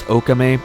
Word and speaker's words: Okami: Something interesting with the nameplay of the word Okami, or, well, if you're Japanese, it's pronounced Okame, but Okami in Japanese can mean 2 different things depending on how it's spelled.